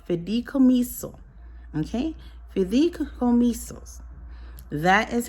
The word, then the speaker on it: fideicomiso: And that bank trust is called, I'm going to try and pronounce it correctly, it's called fideicomiso.